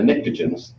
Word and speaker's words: pnictogen: So the chalcogens are this group, and then the pnictogens are nitrogen group. Pnictogen starts with a P. I don't know why the P is silent.